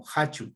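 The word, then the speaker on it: kachu: y decimos jachu y anteriormente también se lo escribía con la k como Cacho pero se sigue pronunciando como jachu como jota y Masha que hace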